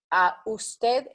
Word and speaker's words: usted: Usted is USTED. Usted. So it's like TETH. Try to pronounce it like that. I will give you a pronunciation. OOS/TETH. Usted.